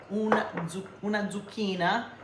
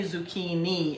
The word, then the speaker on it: zucchina: you don't like zucchini I shredded one zucchina zucchina that's a singular zukin they don't say zukini in Italian it's zukin with an E cuz a singular is feminine so you know every